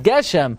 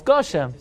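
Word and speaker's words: גשם: in the Hachroza it's Goshem. Say Mashav Ruach Gashem, but don't say it. Say Geshem. Says Rabbi Yaakov, since that's the end of his sentence, that's how it's pronounced in that sentence.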